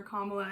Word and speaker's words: Kamala: Um, I think a liberal I think liberals are the people who like voted for Kamala anyway. Kamala. Kamala. I said it right the first time.